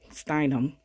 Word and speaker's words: Steinem: saying steinmen is stein stenom oh gosh steinum steinem yes girl i gotta get that pronunciation right but yeah this is a project